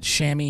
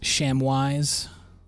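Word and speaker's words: chamois: do we got we got shammy here which i used to pronounce sham wise because of the way it's spelt we've got icy blue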